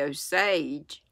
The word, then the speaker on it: Osage: make of it he said that was the Osage and believe it was Linda told me that's